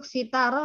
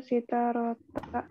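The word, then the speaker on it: سِتَارَة: Uridu Uridu sitarota. sitarotan ya. Sitarotan. Oke, untuk kata sitarotan kalau mau diwakafkan tidak ada istilahnya sitarota. Uridu sitaroh.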